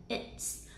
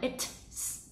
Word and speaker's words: it's: sẽ đọc thành là it's, tức là mình không đọc là it's, mình không bật âm t ra như vậy, mà mình sẽ ngắt